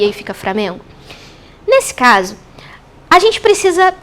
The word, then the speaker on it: Flamengo: a gente tem aqui a palavra Flamengo Flamengo é pronuncia mais próxima do padrão tanto que é agrafada com o l né Flamengo mas não é difícil a gente ouvir framengo ou então prano outras